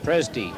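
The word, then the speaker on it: Presdee: Pressody going on. I hope that's how you pronounce it. Pressody going on for Magpie. Presty.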